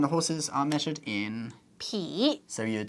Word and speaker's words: 匹: 匹. So you'd say horses 马, so you'd say 一匹马. Yeah. Except in Taiwan, they pronounce it P in the flat really? tone. Yeah, 一匹马.